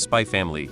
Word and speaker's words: Spy x Family: is also pronounced as spy family so am assuming in Japanese media naming the x is silent I variously heard read